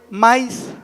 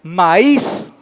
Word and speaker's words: maíz: otro ejemplo es maíz si no lo acentuamos la y como diría maíz maíz y en algunas colonias así lo pronuncia vaya quiere más si es bueno es entendible verdad de que se refiere pero fonéticamente o sea dándole correctamente la pronunciación sería maíz cual escuchan más fuerte